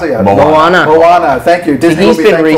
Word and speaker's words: Moana: Yeah, Mona, yeah, that looks Momoa, cool. I don't even know what to call it. I don't know how to pronounce it yet. Moana.